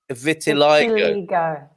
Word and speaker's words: vitiligo: Oh, it is vitiligo. Yeah, he's got a phonetic medical pronunciation in there.